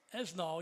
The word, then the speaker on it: Esnall: the men's golf team, Paul Esnall. He told me that's how we're going to pronounce his name. It might not be exactly how they pronounce it in France, but he said that's good enough for the show.